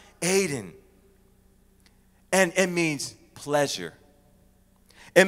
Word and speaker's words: Eden: the word eden means it's pronounced hayden and it means pleasure